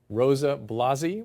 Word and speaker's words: Rosa Blasi: We're talking with the author and self-proclaimed jockaholic, Rosa Blasi, right? Yes. I pronounced that right?